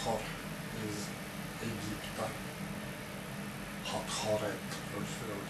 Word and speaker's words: Hathor: of the horned goddess Hathor from Egypt… or Hathoret, because many Egyptian female names in fact all end with "et" sounds— so anything else is not very correct to pronounce.